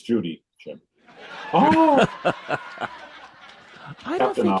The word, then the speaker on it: Judy: It's Judy, Jim.